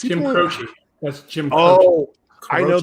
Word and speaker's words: Croce: say that name right there Croc it's Jim Croce that's Jim oh I know that's I know